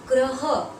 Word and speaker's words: ग्रह: ग्रह, ग में रफला, ये र का ही रूप है, ग में रफला ह, ग्रह, ग्रह मतलब नक्षत्र, नक्षत्र।